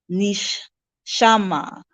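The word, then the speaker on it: neshamah: separation from Oneness we also have Ness my Nish shama which is spelled n e s h a m a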